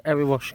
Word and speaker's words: Erewash: So yeah, that's the Erewash, keep saying it wrong. That's the Erewash Canal, right there.